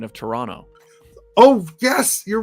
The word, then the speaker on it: Toronto: said in toronto say toronto not toronto yeah the only time the only time you pronounce the second t is if you're saying torontonian you know correct you